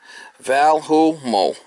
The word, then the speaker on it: Valemo: background of this product Volo pronounced Valu Mo motorized zone valves have